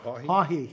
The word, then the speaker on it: Haughey: Haughey.